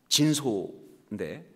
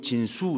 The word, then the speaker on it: 진소: 제가 한국 이름으로는 아 진소인데 이거를 미국 사람들은 절대로 그렇게 발음 못 합니다 그래서 꼭 저면 진수 이렇게 발음해요이 소를 못